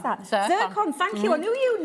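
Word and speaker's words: zircon: How do you pronounce that? Ziron.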